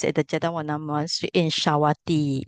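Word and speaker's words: Sāvatthī: So the discourse took place at the Jetawana Monastery in Shawati. It's a long I here.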